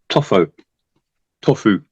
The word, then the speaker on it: Tofo: place quite well known called Tofu. That's how you want to say it. It's spelled TOFO.